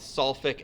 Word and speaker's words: sulfuric: but no you're right following the rules it should be solving acid but of course it's not we throw an extra syllable in there and it becomes sulfuric acid again this usually doesn't